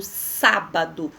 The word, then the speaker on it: sábado: Exemplo, sábado. O sá, ele tem acento, então ele é minha sílaba tônica.